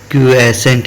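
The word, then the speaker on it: quiescent: तो क्यूएसेंट है इसका प्रोनाउंसिएशन, क्यूएसेंट।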